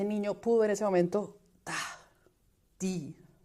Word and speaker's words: die: esa palabrita que eran die, que en alemán son D y E, que es un particular porque además es una I larga, pero se escribe con E.